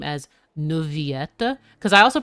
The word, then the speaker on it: Neuvillette: But in French, two L's are sometimes just pronounced as Y.